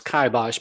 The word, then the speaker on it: kibosh: kabash kabash yeah I I did check it out online and and the suggested pronunciation was kabash but sometimes I'll say